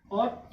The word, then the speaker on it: ought: जब GH के पहले O आ गया, सॉरी GH के पहले U आ गया तो U क्या हो गया, साइलेंट, यानी क्या बचा, OGHT, ऑट या ओट, मतलब उचित होना।